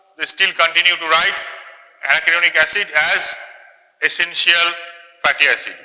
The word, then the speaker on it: arachidonic: Always pronounce the way I am pronouncing: linoleic, linolenic, arachidonic.